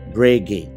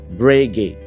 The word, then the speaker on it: Breguet: Lalu gue coba ke merek ini, beberapa teman gue bilang bahwa merek ini adalah Breguet. Dan yang benar adalah Breguet. Sekali lagi, Breguet. Jadi nggak ada huruf T-nya.